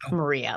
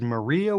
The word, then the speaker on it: Marija: Well, her name is spelled Marija, and there's a lot of confusion. The J causes a lot of confusion. So we called the record Marjia, as typically we would spell it here in the United States, Maria, Marjia with a J.